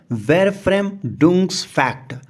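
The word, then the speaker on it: Verfremdungseffekt: ये वर्ड बोलने में टफ है, इसका प्रोनाउंसिएशन होगा वेरफ्रेम डुंग्स फैक्ट।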